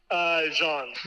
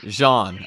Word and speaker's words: Jean: How do you pronounce? Is it Coney or Connie? Connie. Connie Yeah, Connie. and Jean? Jean. Jean.